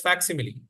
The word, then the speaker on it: facsimile: Okay, it is pronounced as facsimile.